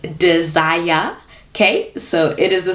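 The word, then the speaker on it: Dzire: At number 7, we have the Suzuki, and let me tell you how you pronounce it. It is not Sire, it is Desire.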